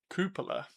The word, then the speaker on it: Coppola: Cupola. You say cupola. See, I say Coppola, but I would be easily convinced to say cupola if it's more of an accurate pronunciation of what it's supposed to be.